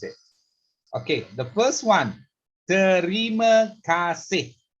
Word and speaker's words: terima kasih: Okay, the first one, terima kasih. Terima, 3 syllable. Terima kasih. Kasih, 2 syllable.